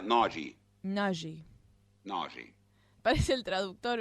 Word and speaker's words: Nagy: En Italia, el apellido Se pronuncia Nagy.